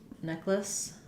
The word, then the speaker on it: necklace: the word necklace um necklace two syllables not necklace but just necklace necklace um so neck lace and then we had